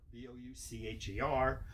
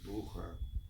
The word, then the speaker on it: Boucher: Now, we pronounce it Booker, B-O-U-C-H-E-R. French pronounced it Boucher. The Germans pronounced it Bucher.